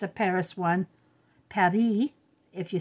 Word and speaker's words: Paris: it's a Paris one par if you say it right in angle English we always pronounce all the letters so we say Paris but in French France